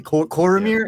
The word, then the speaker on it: Cormyr: That's hard to pronounce? Basically, Cormyr is how I say it, and I'm always